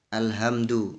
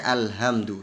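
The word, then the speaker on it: الحمد: Alhamdu dibaca alhamdu, segala puji ya bagi Allah, tapi ternyata dia membacanya alhamdu, segala kekurangan, segala cacat lillahi, milik Allah.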